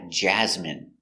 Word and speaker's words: Jasmine: M jasm jasm jasm Jasmine Jasmine stress the first syllable Jasmine Jasmin is a